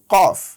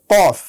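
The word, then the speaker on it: ق: সুপ্রিয় শিক্ষার্থীবৃন্দ, আমাদের পরবর্তী হরফ হচ্ছে কফ। কফ উচ্চারণ করতে হয় জিহ্বার একেবারে গোড়া থেকে। কফ, কাফ বললে হবে না, বলতে হবে কফ।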